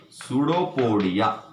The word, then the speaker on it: pseudopodia: Pseudopodia. Here P is silent, pseudopodia.